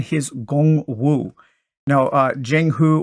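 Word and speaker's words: Jianghu: gong woo now uh Jing who or gong woo as it's probably pronounced in my bad uh Chinese pronunciation that literally translates into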